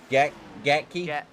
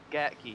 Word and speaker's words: Gattke: one more time jason how did we pronounce name gatke gat key yes that is correct gattke currently your